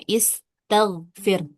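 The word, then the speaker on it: استغفر: Istagfir. Karena ya tadi ini lebih dari empat huruf ya. Huruf ada 1 2 3 4 5 6. Ada enam huruf. Maka hamzah wasal otomatis dibaca kasrah.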